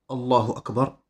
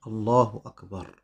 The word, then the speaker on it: Allahu Akbar: Ça fait partie de la bienséance de prononcer Allahu Akbar sans émettre aucune pause entre les deux.